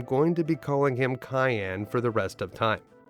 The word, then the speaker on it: Cayenne: Now, if you like to pronounce this guy's name as Cyan, that's totally your choice. And when I was growing up, I always pronounced his name as Cyan. But in the Japanese version of this game, they spell his name out Cayenne, like the pepper.